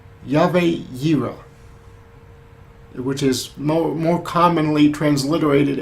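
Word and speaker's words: Yahweh Yireh: that many people are familiar with and it's Yahweh zero which is more commonly transliterated as Jehovah Jireh that probably sounds more familiar to you but the name is actually pronounced Yahweh hero it translates to the ever existing God who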